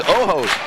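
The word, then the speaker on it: ojo: Um his his oho, if you will. That's how you say it. South of the border.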